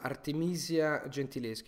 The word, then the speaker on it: Artemisia Gentileschi: Second question is from Artemisia Gentileschi. I think she's Italian, so I pronounce like the Italian pronunciation.